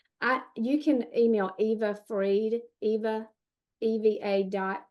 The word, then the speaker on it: Fried: Kelly I you can email Eva Freed. Eva Eva. F R I E D.